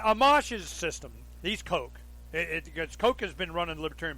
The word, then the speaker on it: Koch: get online the Koch the pus Koch Industries coke coke coke coke okay Togo waters coke whatever